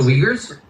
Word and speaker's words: Uyghur: Also, what's with the English pronunciation? The name of that Chinese minority? The Uyghurs?